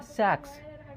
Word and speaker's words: sacs: SACS और SEX। इसको हम लोग क्या कहते हैं? सेक्स। इसको कहा जाता है सैक्स, ठीक है।